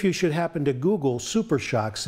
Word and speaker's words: SuperShox: Calmax SuperShox from DJM Suspension.